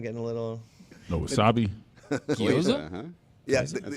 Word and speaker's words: gyoza: The goiza getting a little. No wasabi. gyoza.